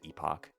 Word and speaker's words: epoch: Do you say epic or do you say epoch? I think you can do both. I've always said epoch.